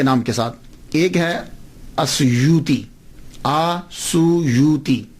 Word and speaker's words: السیوطی: ایک ہے السیوطی، آسویوتی، الف کے اوپر زبر، شروع میں الف ہے، السیوطی، ابن القطب اور الشاذلی، یہ 3 ٹائٹل ہیں۔ یہ جو السیوط ہے نا، اس کے تلفظ میں 2 باتیں قابل غور ہیں۔ پہلی بات تو یہ ہے کہ اکثر الف چھوڑ جاتے ہیں، سیوطی کا، علامہ جلال